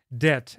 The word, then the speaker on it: debt: Debt — это долг или задолженность, читается без буквы.